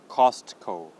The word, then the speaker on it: Costco: cut all right so the first part is cost it just as in a regular word cost not coastal cost and the last part is simply cold Costco Costco all right nice